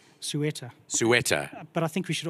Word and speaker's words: Ceuta: How do you pronounce the horse's name? Ceuta.